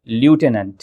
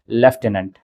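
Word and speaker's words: lieutenant: लेकिन इसकी स्पेलिंग भी बड़ी अजीब दिखाई देती है। हमें लगता है कि यह लिखा हुआ है ल्यूटिनेंट। ल्यूटिनेंट। लेकिन हमें पढ़ना है लेफ्टिनेंट।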